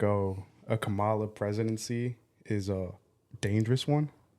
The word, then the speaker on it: Kamala: I can't pronounce her name. Kamala. Camilla? Yes. You talking about Kamala?